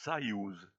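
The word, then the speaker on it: Союз: Il se prononce Sayouz et veut dire union.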